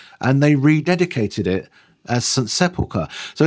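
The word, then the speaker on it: St Sepulchre: And then you'll have to correct me if I pronounce this wrongly. St. Sepulchre's.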